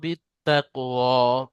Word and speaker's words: بتقوى: আরাইতাল্লাজি আর আরাইতা ইন أرأيت إن كان على الهدى আও আমারা বিত্তাকওয়া أو أمر بتقوى আও আমারা বিত্তাকওয়া। বা তাজের বিত, তারা দুবার উচ্চারণ হবে, তাসদিদ আছে।